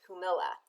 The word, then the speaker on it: Jumilla: this episode we're gonna learn all about the humila region of Spain it is spelled j-u-m-i-l-l-a and it's pronounced humila I attended a great master class and I'm